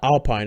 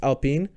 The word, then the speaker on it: Alpine: Alpine, I think is how you pronounce it. It's not Alpine. It's a French team. I think it's Alpine.